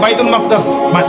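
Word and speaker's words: بيت المقدس: বাইতুল মাকদাস এটা কোথায় বাইতুল মাকদিস বাইতুল মাকদাস না বাইতুল মাকদিস বিভিন্ন মানুষ বিভিন্ন উচ্চারণ করে এটা হচ্ছে প্যালেস্টাইন কোথায়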